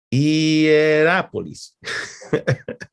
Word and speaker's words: Hierápolis: Epafras estableció obras en su pueblo natal de Colosas y otros pueblos como Laodicea y no puedo pronunciarlo muy bien, pero Hierapolis, ¿ya? Hierápolis.